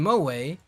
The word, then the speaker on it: Moe: Moemi and Yomeme. Those were the twins I was thinking of. Yeah. And Natsume Moe... Well, no. I call her a Natsume Moe, but it's Mo.